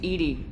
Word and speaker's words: EDI: Why are you named Edie? EDI is the phonetic pronunciation of EDI. That is an acronym for Enhanced Defense Intelligence.